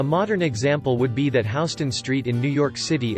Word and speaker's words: Houston: example would be that Houston Street in New York City is pronounced like house rather than like Houston Texas so you can typically